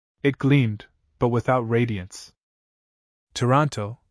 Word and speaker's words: Toronto: Toronto pronounced Tranto please is difficult to describe.